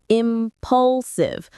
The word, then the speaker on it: impulsive: Impulsive stress on the second syllable.